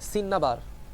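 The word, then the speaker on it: cinnabar: আর mercury আকরিকের নামটা হচ্ছে সিন্নাবার, দন্ত স দন্ত নয় আকার বয়াকার, সিন্নাবার। ইংলিশটা হচ্ছে এরকম, সিন্নাবার।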